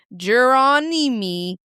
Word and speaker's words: Geronimi: Number 2, Clyde Geronimi. Had to sound it out a little bit there. No, I think you pronounced it right the first time.